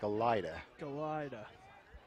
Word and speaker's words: Galeta: I believe that's pronounced Mike Galida.